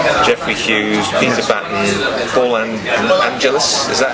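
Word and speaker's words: Angelis: Jeffrey Hughes, Peter Batten, Paul Angelus. Is that how you pronounce it? Paul Angelus, yes.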